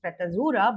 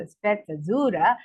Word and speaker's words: sprezzatura: In Italian, now generally I would call it sprezzatura, but since I heard the pronunciation, it's called sprezzatura, is the art of making something difficult look easy.